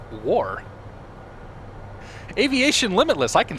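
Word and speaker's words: Wagaugh: War. It's spelled W-A-G-A-U-G-H, but it's pronounced War.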